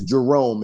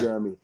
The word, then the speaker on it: Jerome: My first name is Jerome, and people call me Jeremy. I think they think Jeremy is Jerome. I think they think we both have the same names. So they try to sound it out phonetically.